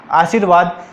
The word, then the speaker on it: आशीर्वाद: ये लगता तो यहाँ है, लेकिन इसका उच्चारण पहले ही कर दिया जाता है। आशीर्वाद इसलिए बता रहा हूँ